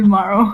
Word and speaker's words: MARO: So I was like, oh, you can just, say MARO. It's good. You can make it shorter.